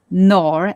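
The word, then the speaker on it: Noor: There is another race similar to Torhan's race, but very tall, the Nor, N-O-O-R.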